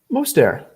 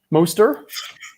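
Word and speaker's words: Mostert: silent it's not moisturized moister it's not yeah that tea is silent most of the air what's there what's the area i don't know it is not there that t is silent i know that for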